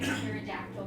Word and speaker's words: pterodactyl: Why can't you hear a pterodactyl go into the bathroom? I don't know why. Because the P is silent.